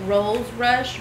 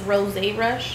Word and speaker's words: Rosé Rush: So I call it rose rush, but I think it's pronounced rosé rush.